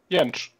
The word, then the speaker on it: Jentzsch: How about you pronounce it for us? Jentzsch.